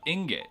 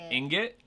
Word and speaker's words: ingot: She usually heard it as ingot. Is that what it is? Ingot. Emphasis on the first syllable.